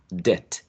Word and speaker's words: debt: that are not pronounced, such as in the word debt, which means in Spanish deuda, debt. You don't pronounce this b, so you go from de to t, debt.